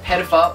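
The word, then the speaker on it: Pettyfer: Alex Pettifer or John C.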